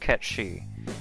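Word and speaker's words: Cait Sith: souls hooray oh man my real name technically i think that should be pronounced cat she because i have done some reading but either way it's the thing from final fantasy vii and also irish mythology which is why i'm going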